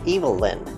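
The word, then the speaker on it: Evelyn: not evil her Nate her name is pronounced evil-lyn it's like super duper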